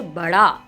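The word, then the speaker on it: बड़ा: அப்படின்னு படிச்சோமா இங்க வந்து படா அதாவதுஹச் வர மாதிரி கொஞ்சம் உச்சரிப்பு வரும். படா அப்படின்னு சொல்லி படிக்கணும்.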